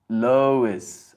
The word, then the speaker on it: Lois: It is pronounced Lois. Ah, like Lois Lane.